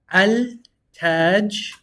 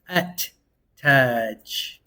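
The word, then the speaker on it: التاج: So instead of reading al-taj, we're actually going to read it at-taj.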